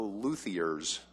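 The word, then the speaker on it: luthiers: guitars from other Colorado luers, I believe, is the correct pronunciation.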